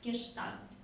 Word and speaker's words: Gestalt: It's the German word that is pronounced like Gestalt.